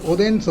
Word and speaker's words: ഒതേൻസ്: അത് ഒണ്ടേൻ ഹോട്ടലിലേക്ക് പോകണം. ശരിക്കും ഒണ്ടേനല്ല, ഒതേൻസ് ആണ്. ഒതേൻ എന്നുള്ള പേര് ഷോർട്ടായിട്ട് ഒതേൻസ് എന്നാക്കിയതാണ്.